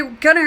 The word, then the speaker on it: Gunnar: Okay, Gunnar is pronounced Gunnar, and it means younger or young.